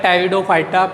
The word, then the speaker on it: Pteridophyta: बेटा वो आता है टेरिडोफाइटा। पी यहाँ पे साइलेंट होता है बेटा, PTERIDOPHYT है, तो पी यहाँ पे साइलेंट है, तो इसको ऊपर टेरिडोफाइटा नहीं टेरिडोफाइटा को बोला जाता है बेटा।